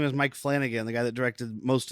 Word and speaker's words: Flanagan: This guy's name is Mike Flanagan, the guy that directed most of that. Say it right, dude. Flanagan.